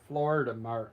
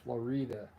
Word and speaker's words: Florida: If you see it on your map, you'd probably call them the Florida Mountains, but it's pronounced Florida. But it's spelled like Florida.